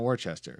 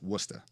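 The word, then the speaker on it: Worcester: and I was like I know it's not Worchester so clearly it's werster and like it was like a record scratch and it was like no no like a dog cuz I just you know made a terrible mistake so fun fact it's Wooster so what's that yeah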